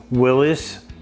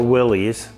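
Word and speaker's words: Willys: and jim has a 1961 willis or willie's depending on how you say it he has a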